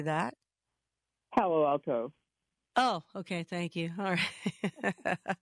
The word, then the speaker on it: Palo Alto: Palace Palo alt how do you say that Palo Alto oh okay thank you all right you're in